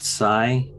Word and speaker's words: Psi: super nitpicky thing but Sai it's spelled PSI as in like psychology or psionic uh superpowers but he's a cyborg not a which would be see why so I'm like again that's